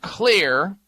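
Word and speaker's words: Xlear: It's called Clear, spelled with an X, as in xylitol, one of the ingredients in the formula.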